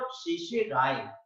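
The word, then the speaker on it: certiorari: यहाँ पर दोनों आर साइलेंट है, सी आर और टी आई ओ आर दोनों आर साइलेंट है, आखिरी आर है, यानी शेल्टी और राय बोलने के बजाय हम शेषे राय बोलते हैं और इंग्लिश हिंदी में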